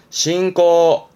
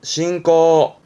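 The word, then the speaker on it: 進行: 나아갈 진짜 전진의 진 진행의 진짜예요 요게 전진이 발음은 젠신 젠신 음모는 싱 가네요 젠신 그렇죠 진행이지만 싱꼬 싱꼬 그렇죠 진출 신트 신트 그렇죠 진학 신가 그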